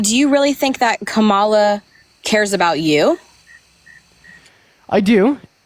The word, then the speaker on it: Kamala: Her name is pronounced Kamala Harris, not Kamala or Kamala or Kamala or anything else that y'all like to say.